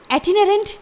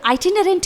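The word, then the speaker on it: itinerant: तो इस तरह से दोनों ही साउंड आप बोल सकते हैं, दोनों ही करेक्ट होंगे प्रोनाउंसिएशन में। एटिनरेंट या फिर आइटिनरेंट की हिंदी होती है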